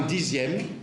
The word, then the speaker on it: dixième: Et un dixième qu'on écrit X, mais qu'on prononce Z.